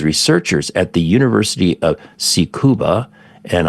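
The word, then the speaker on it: Tsukuba: at the University of seuba and I'm sure I'm butchering this pronunciation in ja in Japanese it's TS kuu ba so University of sucuba in Japan have developed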